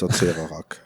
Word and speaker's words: Acererak: You can't pronounce it correctly. I think it's Acererak.